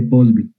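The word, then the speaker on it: Poiseuille: o de boise bill verdad es francés entonces podéis ver se pronuncia por la ley de postville y por el tipo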